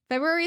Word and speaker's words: February: Never pronounce the R in it. And that's my birth month. So I like to think I'm right. No, that's so real. February is such a It's such a dumb word.